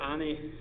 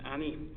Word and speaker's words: Ani: the correct spelling of Ani, which is a dotted I. There are 2 different I's in Turkey, and a dotted I and an undotted I in the Turkish alphabet, and they're pronounced slightly differently.